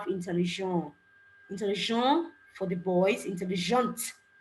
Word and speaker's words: intelligent: intell for the boys intelligent it's not the T I'm pronouncing okay the actual pronunciation